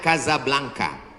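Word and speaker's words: Casablanca: kuliah nama negaranya Maroko ibukotanya tulisannya casablangca cara bacanya Kadzab langka Kaza artinya rumah Blanca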